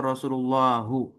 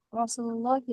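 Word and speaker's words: رسولُ اللهِ: Rasulullah apa Rasulullahu? Rasulullahi Ustaz. Ya oke betul ya.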